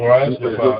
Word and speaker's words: Morais: Well, Honorable Morais, if you don't mind, I hope I'm pronouncing your name right. I had that trouble with the Honorable Speaker of the House, Speaker Tyler, the other day. Please correct me if I'm pronouncing it wrong, Honorable Morais. Yeah, Honorable Morais. It's okay.